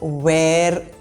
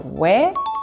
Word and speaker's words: where: These are not where and here. The R is not pronounced in these words. These are where and here. Where are you?